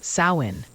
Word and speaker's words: Samhain: The Celts called it Samhain, pronounced Samhain, the end of summer.